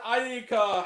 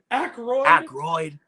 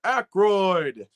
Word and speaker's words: Aykroyd: Starring Grant the Movie and TV Guy with Luke Ponto, the comment section, and Dan Aika. How the fuck do you pronounce this? Aykroyd.